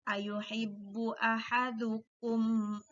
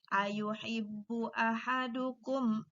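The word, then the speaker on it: أيحب أحدكم: itu adalah jelas ya Jadi tidak boleh membacanya tidak boleh ayuhibbu ahadukum akunya ditahan itu salah tapi yang benar adalah ayuhibbu ahadukum a tidak boleh sekali lagi Bun angin ayuhibbu ahadukum A itu salah kita lanjutkan lagi mitos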